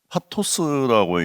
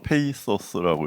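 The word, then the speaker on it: pathos: 여기서 중요한 것은 파토스라고 얘기하는데, 이거는 알다시피 그리스어에서 뭐 영어로는 페이소스라고 이렇게 발음도 하는데요.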